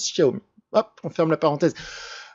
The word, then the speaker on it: Xiaomi: ceux qui ne savent pas, ça ne se prononce pas Xiaomi, ça se prononce Xiaomi.